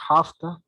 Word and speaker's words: have to: up the mess uh in pronunciation we say hafta hasta and goda right i have to